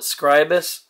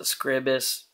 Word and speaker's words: Scribus: i'm using uh well some people call it scribus but i pronounce it scribus and i'm using it